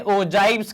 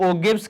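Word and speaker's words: ogive: एक शब्दावली है, इनको कहा जाता है, कुछ लोग इन्हें ओजाइव्स कहते हैं, कुछ लोग ओगिव्स कहते हैं। तो depending on what ever pronunciation you take, जो भी आप कहते हो मतलब सेम ही है।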